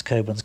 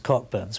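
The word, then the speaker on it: Cockburn's: Over the years, people have laughed because not everybody is Scottish, and most people sort of tend to pronounce Coburn's Cockburns, which sounds as if you've got a bit of a bad disease and so on.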